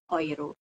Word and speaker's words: Euro: eh mata uang Eropa Euro di dalam bahasa Jerman kita bacanya oo seali lagi Euro bacanya oir kemudian kalau misalnya ada